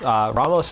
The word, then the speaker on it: Ramos: even say trauma serve Ramos Ramos is the correct Hispanic pronunciation Ramos the dragon engine